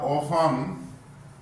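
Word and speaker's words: often: The following words are ऑफन ओ एफ टी ई एन T silent है भाई।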